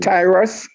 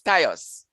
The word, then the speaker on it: Tyus: Is it Tyrus? Okay. You're pronouncing it a little incorrectly, but I think you know who you want to say. It's Tyus.